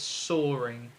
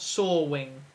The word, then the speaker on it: soaring: teaches english and says it is pronounced with an r or as an r so it's soaring oh not sawing right well done john